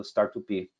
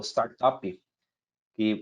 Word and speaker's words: Startupi: mais envolvido todo uma muita gente pronuncia como o startup e mas a ideia era startupi porque era tupi startup tupiniquim antropologia a e aí eu